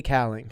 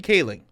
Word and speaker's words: Kaling: her name cat khalig calling we're overall Mindy cowling Mindy Kaling Kaling that's how you do it okay wow